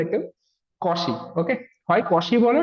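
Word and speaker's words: Cauchy: Number কমি মিন ভ্য থি এই এই জিনিসটাকে অনেকে অনেক রকম প্রোনাউন্স করে। কশি বলে, কেউ কচি বলে। আমাদের ইন্ডিয়ানরা ম্যাক্সিমাম কচি বলে। ওকে? এটাকে কশি বলা হয়।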